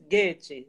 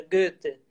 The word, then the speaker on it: Goethe: Porque se você diz Rilke, tudo bem, aqui todo mundo conhece Goethe, embora seja Goethe, né?